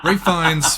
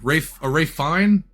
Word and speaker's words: Ralph Fiennes: Rafe Fiennes, fine. Rafe Fine? There's no S at the end? I didn't know that. No, the S is silent.